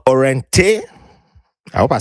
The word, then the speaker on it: Òrentéh: She has a product that she's launching or has launched called Òrentéh. I hope I said it right. Yes, Òrentéh.